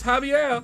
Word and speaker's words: Javier: I said his name wrong and he tried to disconnect me. Javier, don't do it, man. Don't do it. I ain't mean it. I ain't mean to say your name wrong. It's Javier. Javier.